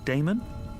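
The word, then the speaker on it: Daemon: a e m o n how do you pronounce that Damon if you preferred and this address I guess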